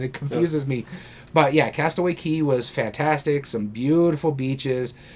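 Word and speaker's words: Castaway Cay: private island is called Castaway Key. I got to remember it because it's spelled C A Y, and I keep wanting to pronounce it as Castaway K, but it's key.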